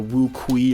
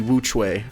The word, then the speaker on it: WuQue: I was calling it like the WuQue or something like that. I don't know. But it's actually pronounced the WuQue.